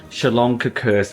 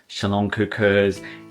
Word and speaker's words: szaloncukor: They are called Salonkakurs.